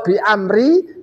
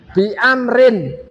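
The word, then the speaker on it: بأمرٍ: Kalau bi amri salah. Bi amrin. Kalau bi amrihi benar. Nanti kok dibaca gitu nanti ceritanya. Tapi cara membacanya saya sampaikan karena itu nakiro. Amrun kenabi jadi bi amrin.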